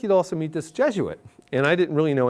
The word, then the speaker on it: Jesuit: I'd not had any Jesuit instructors up to that point I didn't what Jesuit was I thought it was gits actually is what it how you pronounce it and so I